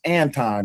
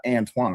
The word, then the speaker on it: Anton: Y'all do know his name pronounced Anton, not Antoine, right?